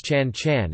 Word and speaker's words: ฉัน: conversation, notably the pronouns chan chan and kaya kao, which are both pronounced with a high tone rather than the rising tone indicated by the script.